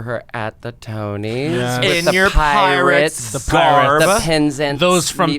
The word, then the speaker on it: Penzance: I performed for her at the Tony's, the Penzance, those from Penzance. Oh my god, I said it wrong after how do you say it? Penzance.